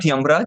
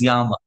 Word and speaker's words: Yama: I just wanted to let all of you know this is not Yamraj. This is Y. When there is a dash above a the pronunciation this becomes this is Yama.